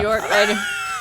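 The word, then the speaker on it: Björk: with this one uh bjork bjork yeah york you don't pronounce every letter a beechwood i wasn't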